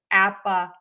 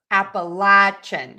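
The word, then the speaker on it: Appalachian: So, according to um the AI, it's appal or appalachin. So, I was correct. You can pronounce that either way.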